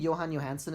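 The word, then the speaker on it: Jóhann Jóhannsson: I think Johan Johansson is how you say it.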